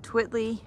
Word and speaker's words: Twiltley: We are at Twiltley depends on how you say it. There is an extra L in there, but we haven't decided if it's silent or not.